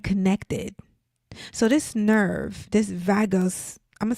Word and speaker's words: vagus: The vagos, I don't know if I'm pronouncing that right. Nervous. The vagus is vagus.